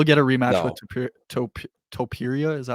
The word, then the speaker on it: Topuria: Topuria, is that how you pronounce it?